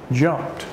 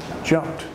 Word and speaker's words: jumped: it would be jumped we actually pronounce it as a t sound jumped jumped if I wanted to